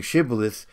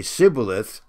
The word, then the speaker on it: Shibboleth: was the problem here instead of saying Shibboleth they would say Sybil a--the for he could not pronounce it right then they would take